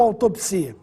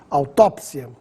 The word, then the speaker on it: autópsia: preferencial acrobata sem acento autópsia ou autopsia aqui o assento cai bem quando Dita autópsia apesar das duas formas estarem corretas prefiro utilizar a forma com acento autópsia biópsia ou biopsia significam